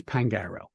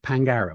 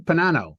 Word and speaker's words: Pangaro: So my name is Pangaro. That's how you say it, Pangaro. It's really very simple. But I will have defense attorneys say, Detective Panano, Detective Pangino, Detective Pagaro, Detective Pagino,